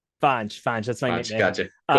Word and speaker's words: Fonge: Um, but Or reach out to me is it or supposed to be pronounced Fonge or Fonge? Fanj.